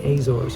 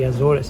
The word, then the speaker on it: Azores: today I'm headed to the azors or the azoris depending if you want to sound like you're trying to pronounce it right or not the flight's going to